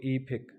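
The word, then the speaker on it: 이백: तो 200 आएगा तो फेक के साथ आप क्या लगाएंगे ई फेक, अकेला फेक होगा तो 100, 200 होगा तो ई फेक, 200 बन गया।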